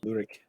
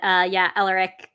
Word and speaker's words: Elric: I've pronounced it 2 different times already, but Elric is. I like that. I keep doing rich because sometimes if there's a C in older Anglo-Saxon, it's ch.